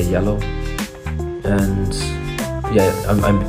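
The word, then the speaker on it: Zalo: You should get Yellow, this application, or it's spelled like Z-A-L-O, but you say Yellow.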